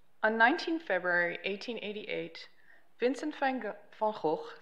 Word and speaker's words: Van Gogh: 19th february 1888 vincent van gaal falch sorry i'll pronounce it in dutch vincent vargo left paris by train